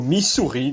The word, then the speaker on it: Missouri: Au Missouri, désolé. Il y a double S donc ce n'est pas un Z dans la prononciation.